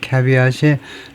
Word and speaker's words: caveat: 발음은 이제 caveat 이렇게 하고 그 다음에 origin은 이거 어디서 나온다느냐 하면은 라틴어에서 나오는데 caveat이 let him or her beware.